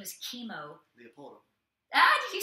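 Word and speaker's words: Kimo Leopoldo: legend in the UFC, and his name is Chemo. Leopoldo. Ah, did you say that? You're afraid I was going to speak in tongues? He thought I was going to speak in tongues or something. But Chemo Leopoldo.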